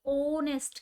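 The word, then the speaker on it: honest: यहाँ पे देखो, एन ऑनेस्ट, यहाँ पे एच है, ठीक है ना, लेकिन फिर भी क्या आ रहा है, एन आ रहा है। क्यों, क्योंकि यहाँ पे एच साइलेंट है और आवाज किसकी आ रही है, ओनेस्ट की।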